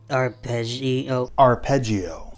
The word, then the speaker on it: arpeggio: Dave Harbor asks, how do you correctly pronounce arpeggio? Arpeggio.